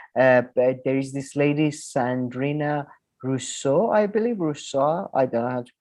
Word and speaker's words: Rousseau: She described Rousseau, herself like the philosopher, Rousseau? like the political philosopher. Right, okay. Yeah, Rousseau.